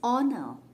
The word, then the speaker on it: honor: We don't say an honor, it's honor. Again, H is silent. It is pronounced as O.